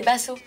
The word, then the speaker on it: Basso: C'est pas Bissot, c'est Basso. Basso.